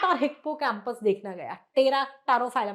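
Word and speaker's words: Pterophyllum: तेरा टारोफाइलम, अभी ma'am P से ये साइलेंट है प्रोनाउंसिएशन में, ये TER तेरा का ही वही आ रहा है।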